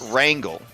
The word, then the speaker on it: Wrangle: pronounce that name uh his name is Wrangle like wrangling wrangling up some uh cattle Wrangle y I'm I'm